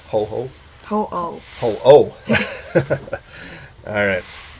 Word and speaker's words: Ho-Oh: Ho-Oh. Ho-ho? Ho-Oh.